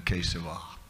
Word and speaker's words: Keshav: I think Keshav sounds better than Keshava in terms of syllables. Swayam Bhagavan Keshav Maharaj. He can write Keshava, but Keshav.